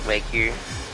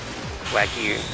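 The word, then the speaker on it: Wagyu: uh stakes medium rare unless it's Wu in which case it's like medium or something. Wagu I should say. Pretty sure that's how you say it.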